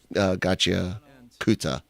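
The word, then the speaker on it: Gachiakuta: was trying to say Gacha Kata, because I was trying to not pronounce the U very well, and they told me to pronounce the U. They're like, no, we're going with Gacha Kuta, and because Japanese has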